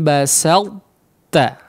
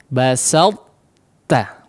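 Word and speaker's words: بسطت: Jadi cara membacanya kurang lebih seperti berikut. La im basalta ya, basalta ya, jangan sot ya, salta ya, seperti kita ingin mengucapkan huruf ta yang ditasydidkan ya, tapi ternyata pas dikeluarkan adalah huruf ta ya.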